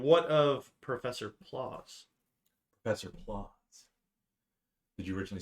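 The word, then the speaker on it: Plause: spell it like, that's not how you, did you spell like pause and just put an L in there? Yeah. P-L-A-U-S-E. Yes. I did PLAUS. Like claws.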